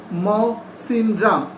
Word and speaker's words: Mawsynram: তারপর দেখো ব্র্যাকেটে একটা কিছু লেখা, দ্যাট ইজ হচ্ছে মৌসিনরাম। স্পেলিংটা, উচ্চারণটা হচ্ছে মৌসিনরাম, MAWSYNRAM।